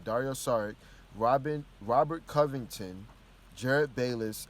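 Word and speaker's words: Dario Šarić: sorry sorry Dario sorry right that's how you pronounce his name Dario sorry Robin Robert Covington Jerryd Bayless and a second-round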